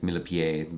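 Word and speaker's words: Millepied: And it might be pronounced more like Millipied, but...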